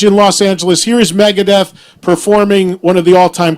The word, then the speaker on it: Megadeth: They didn't say Megadeth. It's Megadeth.